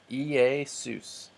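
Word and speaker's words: Ἰησοῦς: sous ei sous now Yoda and ADA going together don't make a diphthong so we pronounced them separately Yoda ADA ei sous but then Omicron Epsilon do make a diphthong so we pronounced them together next Apostolos apostolos you're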